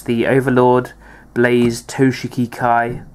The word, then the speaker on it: Toshiki Kai: it's the overlord Blaze toshiki Kai or if you don't know how to say it toiki K if you want to say that probably not because that's completely wrong um yeah it's the